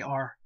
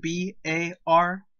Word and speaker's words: BAR: The automatic rifleman was armed with an M1918A2 Browning automatic rifle, commonly called the BAR. Always pronounced B-A-R, never bar.